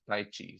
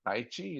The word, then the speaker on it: Taichi: Taichi pronounced Ta. The tongue touches the top and Taichi. So it's not Taichi, it's not anything else, it's Taichi. It's not Tha also, it's between Tha and Ta, is Taichi.